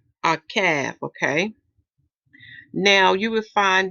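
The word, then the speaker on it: עָקַב: And it's pronounced as Akav. Akav, okay?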